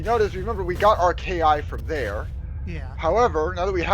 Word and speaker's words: KI: We need to find, so any door with a light above it will be powered by our KI and open. By the way, it's pronounced KI, not key. Yeah.